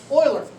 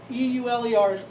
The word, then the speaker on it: Euler: the name of leonard euler that's how you pronounce it e-u-l-e-r's euler i like the houston oilers he's a famous mathematician